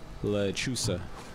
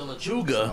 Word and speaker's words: Lechuza: I wrote it wrong in here, but it's actually pronounced Lechuza. The Lechuga.